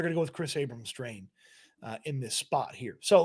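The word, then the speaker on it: Kris Abrams-Draine: I had the wrong name in here, but 31 on Denver is their backup outside cornerback, Chris Abrams-Drain, I believe is how I say his name, Abrams-Drain.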